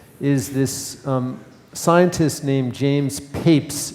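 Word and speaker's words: Papez: research on emotion is this scientist named James papes it's pronounced papes and he was the first to actually describe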